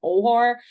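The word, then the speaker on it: Oher: I want to say his last name is pronounced Ohar, but Michael.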